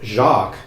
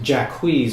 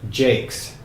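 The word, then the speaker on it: Jaques: spelled Jaq ues so you might think it's Jacques but it's usually pronounced jacquees or even Jakes so what happens Orlando it's being terribly mistreated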